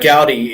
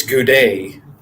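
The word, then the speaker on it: Gaudet: telling us uh Sunday it's not Gowdy it's good day have you heard the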